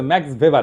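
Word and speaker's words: Max Weber: না আরেকজন দার্শনিক আছে ম্যাক্স ভেভার এটা ওয়েভার বলে অনেকে এটা উচ্চারণ আসলে ভেভার তার একটা লেজিটিমেসি এবং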